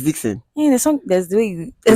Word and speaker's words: Dxn: Dxn is Dixon. Yeah, it's Dixon. Yeah, there's the way you. Okay, I sounded like how did I sound? Dixon.